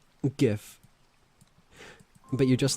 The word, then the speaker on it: GIF: I say it like gift without the T.